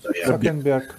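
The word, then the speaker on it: Цукерберг: Как вы фамилию правильно произносите, извиняюсь? Цукенберг.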